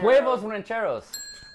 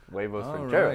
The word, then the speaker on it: huevos rancheros: He totally mispronounced the fuck out of this. Oh, it's Javanero. Huevos rancheros. Oh, shit. We got a steal. Oh, Cody's coming out on top. Huevos rancheros.